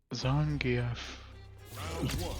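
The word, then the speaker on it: Zangief: Zangf. I think that's how you're like supposed to pronounce it. It is. It's Everyone says Zangf.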